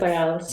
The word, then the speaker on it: Separados: So going back to your music, I'm gonna play a track now, Separados. Is that pronouncing it right? Separados.